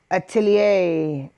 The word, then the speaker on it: atelier: Atelier. Atelier. I only know how to pronounce that correctly because way back when, a